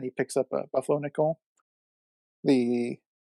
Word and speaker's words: Nicole: funny yeah because uh it says Nicole but his the way you're supposed to pronounce the name is nickel so that's why the